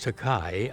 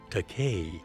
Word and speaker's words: Takei: said so you're George takai aren't you and I said oh my goodness I mispronounced your name out there and you have mispronounced mine but it's really pronounced teay and then he said